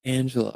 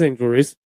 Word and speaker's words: Angel Reese: Angel Reese I believe is it angel or Angela I lit I've heard it both ways and